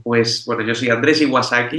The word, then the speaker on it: Iwasaki: Pues bueno, yo soy Andrés Iwasaki y como tal y como se escribe mi nombre, como Andrés Iwasaki, como la Kawasaki, pero con I, me pueden encontrar en todas las plataformas.